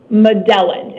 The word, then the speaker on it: Madellan: madellan March 23rd 1986 madellan is how it's pronounced okay thank you Mr